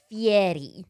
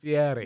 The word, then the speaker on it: Fieri: It is Fieri. Fieri.